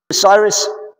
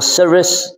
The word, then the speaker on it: Cyrus: rather than the Creator Cyrus or cus it depends on how you pronounce it I like Cyrus it just sounds nicer Isaiah 44 and 45